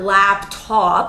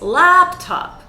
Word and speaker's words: laptop: And laptop is not laptop, it's laptop. We have that sound.